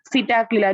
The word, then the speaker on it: Psittacula: Psittacula, remember P is silent.